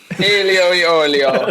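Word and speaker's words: aglio e olio: Alio e olio. You have to say it like that, or else it doesn't count.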